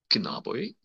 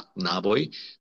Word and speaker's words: knaboj: La knaboj. Percebam que esse knabo, muitas pessoas no início do curso têm dificuldade de pronunciar esse K. Ele é um K um pouco travado, né?